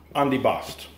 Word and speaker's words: antipasto: But if you go to various places, you'll get their version of Antipasto, is how we pronounce it.